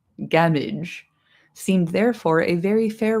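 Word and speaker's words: Gamwich: Gamwick or gamwitch pronounced gamage a sandwich gamage seemed therefore a very fair rendering.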